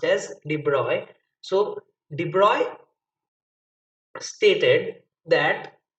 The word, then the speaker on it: de Broglie: in actual pronunciation de broglie is said as de bruyne because his name is pronounced as de bruyne so de broglie stated that uh we will